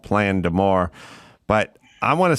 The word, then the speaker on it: Plein D'Amour: You got a new album out, which, like I said, or like you said, is called Plein D'Amour. But I want to spell it out for people so they understand it, because it's not phonetic at all.